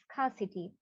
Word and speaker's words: scarcity: The later one, so we know billboard, the later one, scarcity. Again, here the R is silent. See, scarcity, it's not scarcity. No, the R will be silent here. So this is scarcity.